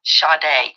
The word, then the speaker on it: Sade: Go to Justice for Sade, and that is spelled S-A-D-E. Like you would say Sade, like sage. It's pronounced Sade.